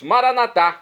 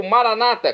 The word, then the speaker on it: Maranata: E agora eu clamo do aramaico dialeto de Jesus, Maranatá, como dizemos nós católicos. Ou Maranata, como dizem nossos irmãos separados, os evangélicos ou protestantes. Não importa a pronúncia, o significado é o mesmo.